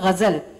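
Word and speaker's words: ग़ज़ल: और गज़ल एक्चुअली उच्चारण है गज़ल.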